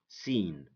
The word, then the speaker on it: scene: So many people don't think that C is silent, because you know we say scene, scenario, science, but in fact the C here is silent. The C here is silent because it comes after the letter S, and S is stronger.